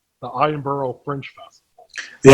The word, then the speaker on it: Edinburgh: your YouTube is that let's see if I pronounce it right. The Edinburgh Fringe Festival. The Edinburgh Fringe Festival, yes.